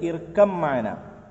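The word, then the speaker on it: اركب معنا: Okay, പതിനൊന്ന്, ബാഇനെ മീമിലേക്ക്, ഇർക്കബ് മാന എന്നുള്ളത് ഇർക്കം മാന, എങ്ങനെ ഇർക്കം മാന, ബാ മീമക്ക് ചേർന്നു, ഇർക്കം മാന.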